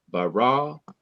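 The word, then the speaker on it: ברא: In each of these three words in the beginning of the Bible, the last syllable of each word is to be stressed. Bereshith, bara, Elohim.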